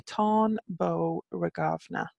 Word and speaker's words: Táin Bó Regamna: Beauregard nough now again I'm just going to note my pronunciation is modern Irish pronunciation so if I'm pronouncing it wrong for old Irish which is an entirely different language apologies for any purist said there so any Irish language pronunciations are my approximation in modern Irish of what maybe old Irish terminology so I would say tone bow regard nough for that because in my head there should be a little H in